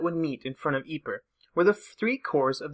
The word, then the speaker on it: Ypres: the English language constructs this basically just results in the British soldiers and citizens back home calling it wipers and being done with it I won't go quite